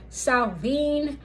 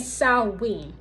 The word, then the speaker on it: Samhain: that also follow SN there are three pronunciations of SN and they are SN salven and Salen I will say that again the three pronunciations for swin are Sal Salen and Sal those are the three pronunciations for Sal The Witches New Year